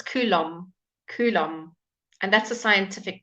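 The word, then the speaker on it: Coulomb: however just to make you very confused it's kulum kulum and that's a scientific term you can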